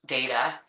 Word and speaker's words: data: I've included a photo here of Star Trek's data uh as a reference for the correct pronunciation of the word data agrees with my assessment.